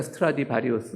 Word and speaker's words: 스트라디바리우스: 발음이 맞습니까? 스트라디바리우스? 네, 맞다 그럽니다. 저 바이올린 연주가가.